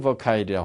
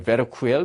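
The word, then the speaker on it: Verkuyl: 요하네스 버카일이라고 하는 분이 계시고 베르쿠엘 뭐 이렇게 발음도 하는데요.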